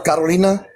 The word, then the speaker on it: Carolina: Want me to roll my R? Carolina? Oh, mira, aprendiste, güey. Carolina's the same way. I'm not saying it wrong. I'm just not rolling the R.